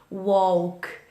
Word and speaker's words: walk: Extra então de pronúncia os verbos que terminam com cá estão protegidos DL a gente não fala UOL A gente não pronuncio L Walk é mais como se fosse Walk Walk como se eu escrevesse w o Walk Walk Walk é